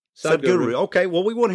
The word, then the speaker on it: Sadhguru: How do you pronounce Sadhguru? That's it, Sadhguru. Sadhguru.